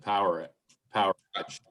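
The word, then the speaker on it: Powerage: that is how you pronounce it. Power Edge. I thought so. Power Edge.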